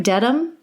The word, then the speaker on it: Dedham: And Am I pronouncing that right? Dedham?